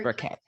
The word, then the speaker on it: Burkett: Burkett, pronounced Burkett.